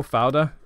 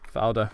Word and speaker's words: Fauda: Fauda, I think it's how it's pronounced, F-A-U-D-A.